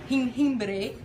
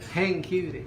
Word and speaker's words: jengibre: And then the last ingredient we're gonna add in is jengibre or ginger. Jengibre. Jengibre. Jengibre. Ginger. How do you spell that?